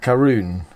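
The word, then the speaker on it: Caorunn: how to pronounce it ko run kale run oh ah it's got a little pronunciation thing underneath karoon it's karoon gin small batch scottish gin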